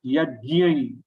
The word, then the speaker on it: yajñi: Now here yajñi, that yajñi is having nasal ya as a anuswar, yajñi. So it becomes little difficult to pronounce, but with practice you can do it.